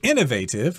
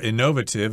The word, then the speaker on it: innovative: And if you're innovative or innovative, I think you can pronounce it both ways, that means you are someone who comes up with lots of new ideas.